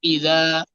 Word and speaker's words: إذا: ইযা, জাল নরম করে উচ্চারণ করতে হয়।